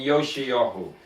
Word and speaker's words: Yoshiyahu: So they spell it in English Josih, but it's Yeshayahu and Yoshayahu. Yeshayahu and Yoshiyahu.